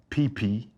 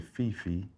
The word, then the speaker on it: Phi Phi: Phuket and Phi Phi. Most people say Fifi, but it's Phi Phi in Phuket, not Phuket.